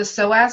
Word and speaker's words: psoas: It's more of your hip flexors, and if you could get online and Google the psoas muscle. Have you heard of this? Okay, no, but I will. Yeah, so it's spelled Psoais, Okay.